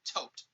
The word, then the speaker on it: Thoth: we got uh corbinx's thoth is pronounced toped h's are silent in seth pronounced set however this is interpretation